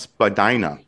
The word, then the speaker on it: Spadina: It's pronounced Spadina. Oh, wow. I've been saying it wrong.